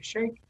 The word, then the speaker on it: Sheikh: salva and shake and i hope i'm pronouncing your last name right shake yes that's correct okay just tell us